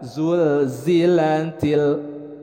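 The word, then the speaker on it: زُلْزِلَتِ: Nah, kemudian untuk lam disukunkan, sekali lagi harus selalu diingatkan jangan sampai ada pantulan menjadi qalqalah. Zul. Nah, jangan sampai ada keluar kata le, zul. Nah, yang benar adalah zulzilatil.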